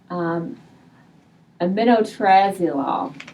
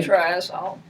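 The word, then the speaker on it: aminotriazole: In the late 50s, there was a weed killer used on cranberries, aminotrazolol. I may be pronouncing that incorrectly. Aminotrazole. There we go.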